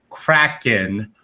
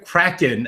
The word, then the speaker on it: Kraken: So I am going to take my time right now to say Kraken properly. Release the Kraken. Yeah, Kraken, I think is the proper pronunciation.